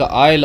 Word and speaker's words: isle: नाम है the lake आइल ऑफ इनसफ्री। Lake जो है झील को बोलते हैं और आइल जो है यहाँ पर एस साइलेंट है।